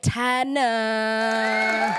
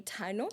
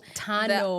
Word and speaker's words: Tannor: welcome our guest am Tana yes hi how are you doing um did I say your surname right um it's actually Tano Tano R is silent so I need to